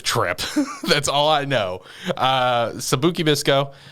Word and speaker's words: Sabikui Bisco: Sabikui Bisco. Am I pronouncing that right? You're good.